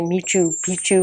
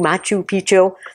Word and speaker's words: Machu Picchu: them I is it I always say it wrong I I always want to say meet you Picchu Machu Picchu that's a big long